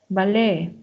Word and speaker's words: ballet: accepts whistle fasten rle ballet Buffet G as you can see the t is not pronounced so it's really important